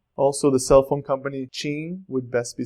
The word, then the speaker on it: TIM: with an M also the cell phone company Ching would best be spelled in English like this Jean and definitely not pronounce like the name Tim so don't say Tim last for I n we have the word